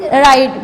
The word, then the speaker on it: write: We read is right, but W is silent. We just read it right.